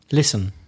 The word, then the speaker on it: listen: So the first group we have are words with a silent T or T sound. For example, escuchar. Listen.